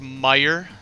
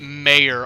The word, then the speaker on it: Meyer: a lot of um so it's technically pronounced meyer but i get a i get mayor all the time and but it doesn't